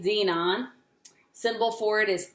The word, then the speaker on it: xenon: okay a Z Z Z non symbol for it is X upper case X and lower case e it's pronounced Z non I wanted to do